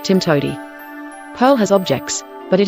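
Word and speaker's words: TMTOWTDI: there's more than one way to do it pronounced Tim toi Pearl has objects but it is more of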